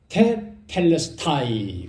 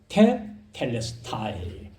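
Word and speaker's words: τετέλεσται: 헬라어로 테텔레스타이 그렇게 합니다. 테텔레스타이.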